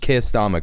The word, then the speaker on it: Keir Starmer: Yes, it's happened under the Labour government, not just Keir Starmer. Correct. That's the right way to say it.